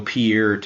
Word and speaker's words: Peart: It's like, no, it's Peart.